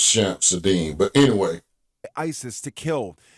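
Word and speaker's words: Shamsud-Din: L divit authorities identifying the suspect as 42-year-old shamsu djabar a us-born citizen and army veteran from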